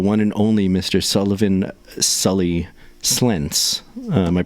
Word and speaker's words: Slentz: Sully Slentz. Am I pronouncing your last name correctly?